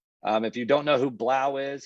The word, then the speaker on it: 3LAU: If you don't know who Blau is, he spells it 3LAU, but it's pronounced Blau.